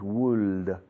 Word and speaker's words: would: o el truco más, el único truco que se me ocurre para ayudaros, para llegar a esta pronunciación fonética es la provincia o la ciudad de Huesca. Es lo que hacéis con la boca para formular la pronunciación de Huesca, Huesca. Okay, would. Would you like? Would you? Would he? Would she? Would they? Would we? Would you? Como Woody Allen.